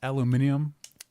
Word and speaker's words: aluminium: It's aluminium. Yeah. Aluminum. Yeah, they don't say aluminum. It's aluminium. They say Fancy. They said it like British, but with no accent.